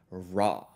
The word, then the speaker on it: ra: Our only exception is the syllable re, which when lowered changes the ending vowel to the letter A, creating ra.